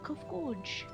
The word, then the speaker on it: Kofkuj: As for nomenclature, to address my individual person, I believe it would be pronounced Kofkuj.